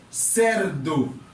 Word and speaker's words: cerdo: Donc, le moins gen C plus la lettre E, li prononcé cerdo. Donc, li vient égal avec la lettre S.